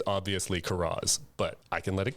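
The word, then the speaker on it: Karras: stepfather's last name, and I refuse to accept Caris as the proper pronunciation of that name. Even when they're saying it, even I think when he says it in one point in the movie and he says Caris, I'm like, "It's Kuras.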